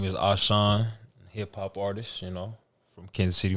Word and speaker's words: A'sean: So it's A'sean. A'sean.